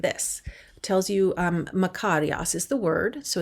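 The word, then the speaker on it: μακάριος: How it's pronounced, makarios.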